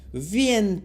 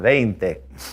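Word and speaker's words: veinte: I'll say what vient. Wait a minute. Wouldn't that be vient? Wouldn't be that vient. That's right. So remember to spell it ei to get that a sound. Vente.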